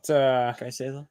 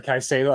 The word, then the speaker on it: Caicedo: Is it Caicedo? Sorry, Caicedo.